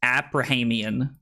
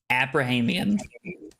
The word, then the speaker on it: Abrahamian: for him, but Drew, Carly's last name is Abrahamian. That is how you pronounce it. Abrahamian.